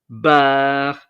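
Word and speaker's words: barre: is equivalent to a ton like um um bar which is bar in short is interesting uh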